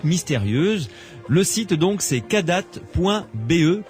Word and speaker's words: Kadath: Le site donc c'est cadat.be, Cadat ça s'écrit K-A-D-A-T-H.be.